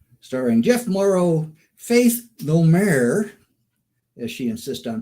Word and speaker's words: Domergue: starring Jeff Morrow Faith No mayor as she insists on pronouncing it and Rex reason with Lance Fuller